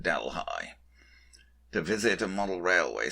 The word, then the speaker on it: Delhi: delhi ontario spelled like delhi in india but pronounced delhi to visit a model railway store which google